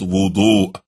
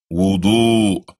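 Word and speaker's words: وضوء: This, as we mentioned earlier in the CD, is called wudu. Can you say that? Repeat after me. Wudu.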